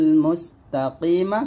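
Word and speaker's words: مستقيم: লাম কে ধরবে ত লাম জবর তল সিরাতাল মুস্তাকিমা থামলে হবে ইহদিনাস সিরাতাল মুস্তাকিম মুস বাতাস বের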